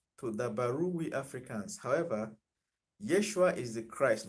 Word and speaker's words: Yeshua: know his name is yeshua or joshua joshua is like greek pronunciation yeshua is like the original aramaic pronunciation yeshua or yehoshua that's what his name is but when he died